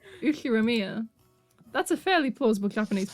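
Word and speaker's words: Ushiromiya: His name is, fuck you, pronounced Uchiramiya George.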